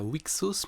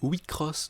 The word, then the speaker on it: WIXOSS: petit 10 km heure le jeu ne se prononce pas weeks hausse mais oui cross donc bas mes lèvres